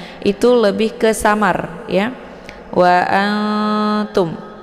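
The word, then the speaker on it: وَأَنْتُمْ: lebih ke samar ya Wa Antum wa Anum bukan an kalau an itu lebih ke iidhar juga bukan dibaca Ang ya ang kalau Ang itu lebih ke dengengung Nah karena ini adalah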